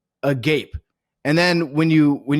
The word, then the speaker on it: agape: And it's spelled a G- A P E. Okay. So, it's a gape.